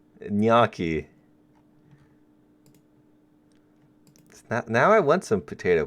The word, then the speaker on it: gnocchi: Oh, the G is silent. Gnocchi.